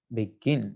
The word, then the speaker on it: begin: the second syllable begin begin so here second syllable takes the stress begin okay so two syllable